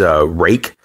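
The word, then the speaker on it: Ruike: The next is Rake. It's spelled R-U-I-K-E, and they're an awesome company.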